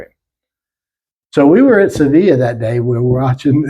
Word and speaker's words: Sevilla: Spain, the Barber of Seville and all that. The name of that town is actually Sevilla. It's spelled with two L's, E-L-L-E at the end of it.